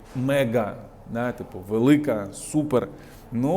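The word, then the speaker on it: MAGA: Make America Great Again в Америці якраз таки читається як мега да типу Велика супер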